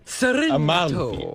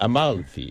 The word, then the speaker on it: Amalfi: Amalto. Amalfi.